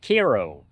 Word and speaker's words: Cairo: It's a USS Ko. It's Cairo with a Mississippi accent. So, they say Kairo. I don't have a Mississippi accent. I have a Michigan accent. So, you're going to get whatever comes out of my mouth.